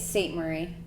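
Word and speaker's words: Ste-Marie: in a way that i'm unfamiliar with it's saint marie it is right but she's praised pronouncing yeah okay so yeah cool um s-t-e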